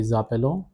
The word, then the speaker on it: nous appelons: Because of the liaison rule, S will get linked with this A. So the pronunciation will be zappelon, zappele, and the last one is also appel.